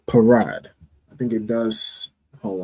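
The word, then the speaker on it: פרד: The pa is pronounced individually, and then the ra and da will be connected. All right, so that will make the word parad.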